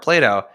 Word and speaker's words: Plato: approach because you just started and is it Plato is that how you pronounce the company's name yeah exactly okay so